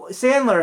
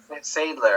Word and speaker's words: Sadler: they released okay and um uh s uh Sandler how do you say his name William Sadler s Sadler Sadler Sadler doesn't he um in